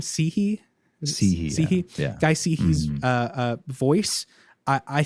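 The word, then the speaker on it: Cihi: Sihi.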